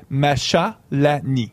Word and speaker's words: Machalani: ami marchal annie machelen donc si je prononcerai la france offrait macha l'ani exact donc ça s'écrit comme